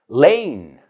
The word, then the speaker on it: lane: Lane. Lois Lane. Right? Superman's love interest. Lois Lane. And lane rhymes with cane.